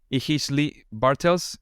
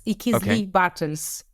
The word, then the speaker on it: Ichizli-Bartels: I am going to certainly fail on this pronunciation. Ichizli-Bartels. Does that make any sense? Yes, just a little amendment. It's Ichizli-Bartels.